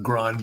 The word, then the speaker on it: Grande: Well, first of all, my first question about Grande is, how should we pronounce his name? Grande. Like in the Rio Grande River.